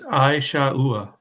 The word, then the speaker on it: Esau: all right awesome Pam put uh how to pronounce Esau it's it's a shaa if that helps Adam means Chief or First